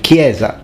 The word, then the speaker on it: chiesa: a k sound like kieza church is then pronounced chiesa with a chur for from our perspective that sounds absolutely awful and crazy i mean everyone knows it's pronounced gamba and kieza but for future italians